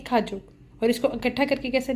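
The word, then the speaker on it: 가족: इफ़ अगर आप नहीं हो सो माई फैमिली को कोरियन में कहते हैं इट्स ने खाजोक। आई जस्ट रिपीट, इट्स ने खाजोक। इसको प्रोनाउंस ऐसे करेंगे, वो अलग पता है कि गा की साउंड है बट इट्स ने खाजोक।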